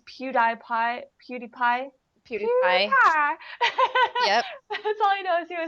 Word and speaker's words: PewDiePie: PewDiePie.